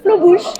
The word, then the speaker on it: Flo Bush: Domaine Flobouche, c'est bien ça, je l'ai bien prononcé. C'est bien Flobouche.